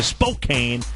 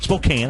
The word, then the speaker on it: Spokane: you absolutely we're going to go back to Spokane Spokane how do you say it Spokane Spokane yeah